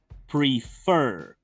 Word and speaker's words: prefer: Escuchen bien. To prefer. Lleva la fuerza de voz en la última sílaba, termina en una vocal